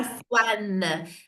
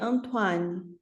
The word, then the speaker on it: Antoine: Il a, Antoine. Parce que O-I se lit OA. Alors, mon père s'appelle Antoine. mon père s'appelle Antoine.